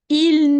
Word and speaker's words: il: Even the il could be shortened. You see, I'm going only to pronounce the i. I.